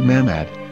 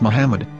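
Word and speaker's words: מחמד: a after the h according to ben yehuda's hebrew english dictionary it is correctly pronounced as muhammad not mahmad so how we're going to know for sure if it's pronounced as muhammad the muslim prophet or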